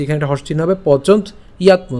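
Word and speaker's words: পচন্ত্যাত্ম: ঠিক আছে, পচন্ত ইয়াত্ম, পচন্ত ইয়াত্ম একসাথে উচ্চারণ করলে পচন্ত ইয়াত্ম।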